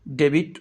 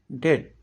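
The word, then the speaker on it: debt: সঠিক উচ্চারণ হলো রিসিভ ডেট এটিকে অনেকেই ডেবিট উচ্চারণ করে থাকেন এর সঠিক উচ্চারণ হল হলো ডেট।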